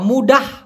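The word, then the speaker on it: mudah: ভাষায় যদিও সেনাং বলা হয় সে নাং অথবা মুডাহ বলা হয় এম ইউ ডি এ এইচ উচ্চারণটা আমি দেখে দিচ্ছি মুডাহ বলতে পারে জাঙ্গান মুডাহ মাঙ্গালাহ তার মানে সহজে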